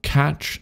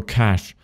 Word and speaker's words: cache: to do what's called catch the data or cache uh depending on how you would pronounce it but to Cache the